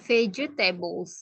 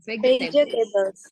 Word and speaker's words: vegetables: Jadi bacanya vegetables, bukan vegetables. Vegetables. Jadi kedengaran kayak J gitu ya.